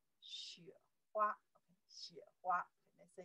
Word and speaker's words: 雪: 雪. This character pronounced 雪, right?